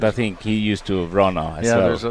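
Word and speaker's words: Wranå: Christopher Sundgren, Rasmus Vrana, Oscar Eriksson, Nicholas Edin. It's Verano, but we can talk about the pronunciation shortly.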